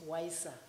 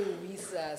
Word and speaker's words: WISA: the Journey of weisa I like the way she pronounced it wiser we normally say WIA so today I had another version wiser she took us through